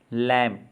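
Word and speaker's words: lamb: तो B silent वाले words देखते हैं। तो इसमें है कोम मतलब कंघा। लैम्प, मेमना। थम, अंगूठा।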